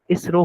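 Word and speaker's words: ISRO: हम नासा को एन ए ऐसे नहीं बोलते। ठीक है? हम सीधा क्या बोलते एज अ वर्ड उसको प्रोनाउंस करते हैं जैसे नासा ठीक है फिर जैसे हो गया इसरो हो गया हम आई एस आर ओ नहीं बोलते हम उसको इसरो बोलते हैं ठीक है तो ऐसे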